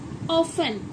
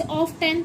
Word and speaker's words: often: और क्या हो सकता है, हाँ, OFTEN, ऑफन, इसे ऑफ 10 तो नहीं पढ़ते, ऑफन मतलब हमेशा, तो इसे हम ऑफ 10 पढ़ते हैं नहीं, इसे हम क्या बोलते हैं इसको, ऑफन, ऑफन बोलते हैं ना, ऑफन।